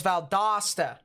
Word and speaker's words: Valdosta: you so much valdosta all right so it's valdosta okay that makes things a lot easier for